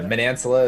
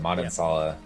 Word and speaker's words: Manansala: Yeah, Manansala is like the proper American way, but Manansala is the Filipino take that's on interesting.